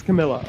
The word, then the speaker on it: Camila: uh Mrs cardoso I forgot her first name Camila Camila cardoso that's probably not how you say it either um but she it is Camila okay Camila cardoso they allowed her to just